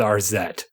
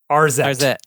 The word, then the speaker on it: Arzette: So let's just go with RZ. RZ. With what? RZ. Spell it.